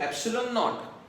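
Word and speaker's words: ε₀: एयर या vacuum के लिए हम लोग जीरो ऐसा लिखते हैं, उसको नॉट ऐसा भी बोलते हैं। सो एप्सिलॉन नॉट, हाउ to pronounce?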